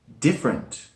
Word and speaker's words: different: Number 6, different. Different. Right, when this word is spoken, it has 2 syllables, not 3, as it looks. Different. Different. Different. Yeah, it's mostly spoken like different.